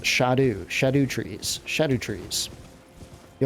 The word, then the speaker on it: Scadu: pronounced Shadow trees uh so I I say scadu but they are actually pronounced shadu shadu trees shadu trees you have to watch